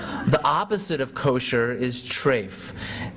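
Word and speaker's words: טרייף: opposite of kosher is trafe that's the Yiddish pronunciation of the Hebrew word terev trefa food is not clean or dirty but rather it's kosher or trafe Trey refers to the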